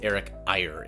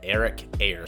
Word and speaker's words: Eyre: refilm this episode because I accidentally mispronounced his name as Eric Iyer and I listened to an interview and his name is Eric air so Mr air I'm